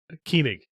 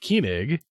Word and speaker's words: Koenig: I slaughtered I'm them. pretty sure it's pronounced Koenig. The only reason I say Koenig is because there was a book series I read that the character's last name was Koenig. It was Doug Koenig.